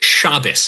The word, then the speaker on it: Shabbos: It's it's pronounced shabus.